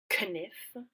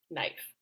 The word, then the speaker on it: knife: this pronunciation was shifted the spelling was kept and the pronunciation changed so that you say it's the way that you say it now which is knife and so essentially we're